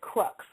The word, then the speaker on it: crux: Uh when I looked at cross I found that cross meant crux which is spelled C R U X like X-ray.